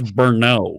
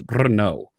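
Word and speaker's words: Brno: because they can actually pronounce it when the americans show up and they go hey where's bernoull no it's not inferno it's bruno right i was there to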